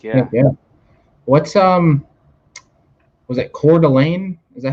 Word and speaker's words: Coeur d'Alene: What's was it Coeur d'Alene? Is that how it's pronounced in Idaho?